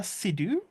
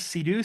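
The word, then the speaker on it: Seydoux: Isn't it Leia Sidhu? I always heard it pronounced like that, so I don't know.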